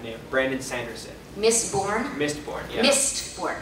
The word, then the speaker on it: Mistborn: Mistborn. How do you say mist? Like in the mist? Yeah, like the mists.